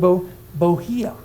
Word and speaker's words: bohea: To pass her time twixt reading and bohea. I looked that up. Isn't that great? I thought it was just bohea, but it's bohea. And that means it rhymes with to muse and spill her solitary tia.